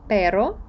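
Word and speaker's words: pero: іспанській мові в іспанській ти скажеш перо і скажеш Перро і це будуть два різних слова як тут у мене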